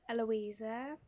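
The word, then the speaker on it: Llousia: So my middle name is Eloisa, but it's not how you would think it's spelled.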